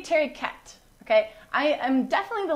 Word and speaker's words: Tariquet: do say I guess proper French would be cherry k I guess but to get in this region they actually use the end the last or they pronounce the last syllable so Terry cat ok our Terry k